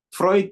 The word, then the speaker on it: Freud: Ketika Hawking pertama kali diperkenalkan pada karya Sigmund Freud, bacanya Freud ya, dia merasa karya itu menginspirasi.